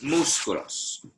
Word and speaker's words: músculos: Los músculos. With an accent on the U. Los músculos.